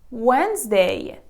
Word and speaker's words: Wednesday: like in these words letter D is silent handsome sandwich Wednesday Bridge badge Gadget see